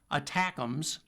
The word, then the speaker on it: ATACMS: Those include the ATACMS, short for Army Tactical Missile Systems, pronounced ATACMS, and the newer, even more accurate, and even longer-range Precision Strike Missiles, or PRSM.